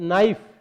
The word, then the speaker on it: knife: अंग्रेजी के शब्दों की यदि हम यहाँ चर्चा करें तो नाइफ, नाइफ यानी चाकू, KNIFE, यहाँ के साइलेंट हो जाता है, विलुप्त हो जाता है और इसकी ए उच्चारण में केवल NIFE ही प्रयुक्त होता है।